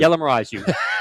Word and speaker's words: Yelamaraju: Yelamaraju. Yella. Yella like yellow wood. Yella, like yellow wood. Yellamaraju. Yelamaraju. It's going to be a mouthful, but it'll stand out. It's spelled like it sounds.